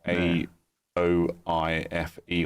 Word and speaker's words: Aoife: I know I know somebody called Aoife, but it's not spelled how you'd pronounce it phonetically. It's like A O I F E or something.